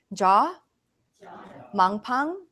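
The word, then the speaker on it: Jo Mang Pang: life okay number four can you say jaw Mong Poong jaw monk Poong jaw is spelled Jo and Mong pong is ma ng P ang ma n GP ang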